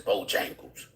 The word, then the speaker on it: Bojangles: And these Hispanics, I ain't really going off topic, but they be saying Bojangles when it's Bojangles, because it's J in Bojangles. But they say it like it's a Y in there.